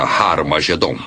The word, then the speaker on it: Armagedon: E realmente em algumas das antigas versões do Novo Testamento, escritas em grego, Armagedon tem o som aspirado no início, que significa que era pronunciada com H. Originalmente era Har Magedon, e é muito fácil passar de Har Megido para Har Magedon.